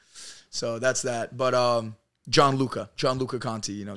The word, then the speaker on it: Gianluca: to say your name your name is super Italian right like John Luca like g i a